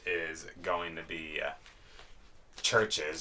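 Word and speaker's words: CHVRCHES: going to be uh churches screen violence sometimes pronounced traverches yeah and uh this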